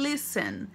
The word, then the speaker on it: listen: Agora, para escutar a gente usa o listen. A gente escreve listen, mas não pronuncia o T, tá? Você fala list.